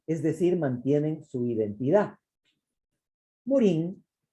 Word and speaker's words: Morin: decir mantienen su identidad morin se pronuncia morán en francés amplía este concepto ojo